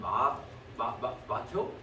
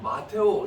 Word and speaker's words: 마테오: 자, 이 마태라는 이 이름은 히브리식 이름인데, 이 마태 또 저기 뭐야, 카톨릭에서는 마테오? 마테오. 마테오 이렇게 부르는 게 뭐냐면 히브리 이름인데 그리스식 발음을 그렇게 한 거예요.